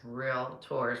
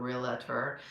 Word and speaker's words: Realtor: of realtors real tours remember it's real tour I say it wrong a lot because a lot of people get used to putting an A in there and it's not real at her so anyways um and